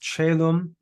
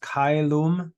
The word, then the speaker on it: caelum: It's pronounced in church Latin, it's pronounced caelum. In classical Latin, it's pronounced caelum. So 2 different pronunciations.